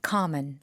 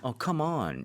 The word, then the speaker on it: common: Common. One more time. Common. Okay, common. common. Alright. 아니 왜냐면 강세 잘못 주시면 come on 이렇게 되니까 Oh, yeah.